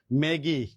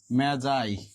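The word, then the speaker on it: Magi: দা মেজাই উচ্চারণ কিন্তু এটা মেজাই নট ম্যাগি ঠিক আছে এটার উচ্চারণ কি মেজাই এখানে দুইজন ক্যারেক্টারের কথা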